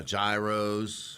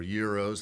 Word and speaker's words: gyros: Uh gyros or euros, how however you want to pronounce it.